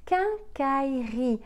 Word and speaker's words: quincaillerie: la maison des choses de bricolage c'est une quincaillerie en anglais on dira doigts et ce taux donc c'est une quincaillerie quincaillerie un as i le est silencieux y est le est silencieux quincaillerie qu'un cas y rit quincaillerie le septième au